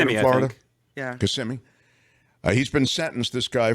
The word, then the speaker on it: Kissimmee: This is the Kissimmee, or is it Kissimmee, isn't it? Is that how they say it in Florida? Yeah. Kissimmee.